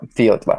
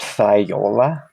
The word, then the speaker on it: Theotla: Yeah, Theotla. Yeah. It's spelled like it's pronounced Thiola, but it's actually pronounced Theotla.